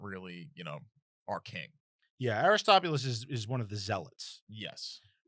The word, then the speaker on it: Aristobulus: That's how you pronounce it. So there's a man in the city preaching about Aristobulus and how he's going to be the savior,